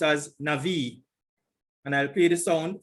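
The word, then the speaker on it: נביא: strong's number h 50 30 and it is pronounced as navi and i'll play the song for you strong's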